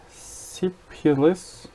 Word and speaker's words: syphilis: It was for syphilis. Bunun bir telaffuzuna bakayım.